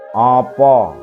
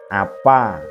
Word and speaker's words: apa: Kemudian A bulat, itu ada contoh kata opo, konco, monggo. Bukan apa, kanca, mangga. Itu dialek Banyumasan.